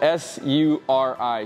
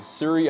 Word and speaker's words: Suri: also exists and that is the alpaca that is spelled s-u-r-i Siri alpaca Suri alpacas as you can see are